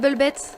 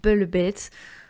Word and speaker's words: Velvet: Et oui, je dis Red Velvet parce que je le dis en version coréenne, parce que le V n'existe pas en coréen, donc ils disent Velvet.